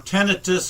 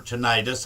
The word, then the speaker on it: tinnitus: For tinnitus or tinnitus, however you want to pronounce it, and not have a hearing loss approved.